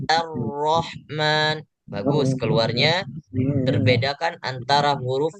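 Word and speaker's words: الرحمن: Karena huruf alif itu keluarnya tipis dan ro-nya sesuai tebal. Jadi Pak Ridwan bacanya Ar-Rahman.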